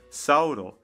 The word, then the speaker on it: Sauro: His Japanese name is pronounced Sauro, which sounds like dinosaur, so maybe his ancestors were in charge of Little Garden.